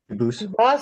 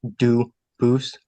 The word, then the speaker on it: Dubus: They do pronounce it dubis, but you said you pronounce it dubus as the original duboose as the original French.